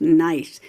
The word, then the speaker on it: gneiss: put Oreo cookie rocks nice g-n-e-i-s-s pronounce nice and this is amazing